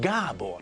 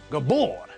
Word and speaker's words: Gábor: Okay, this means that we know how to pronounce the name Gábor, for example. It's Gábor, not Gabor.